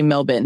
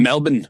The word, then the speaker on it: Melbourne: Australia, Melbourne, they say Melbourne. Melbourne.